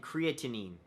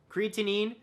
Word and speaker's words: creatinine: They measured sodium, potassium, chloride, total CO2, glucose levels, and creatinine.